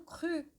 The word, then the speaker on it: cru: E quando você pronuncia o C, né, do cru, a parte de trás da língua, ela vai tocar o céu da boca. Cru. Ela meio que vai fechando aqui a garganta, né?